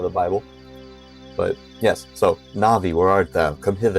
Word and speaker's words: Navi: names and different things na'vi right instead of Navi some people say Navi I say na'vi some people say deu I sayu right so I I base it off of the the Japanese pronunciation I guess you've always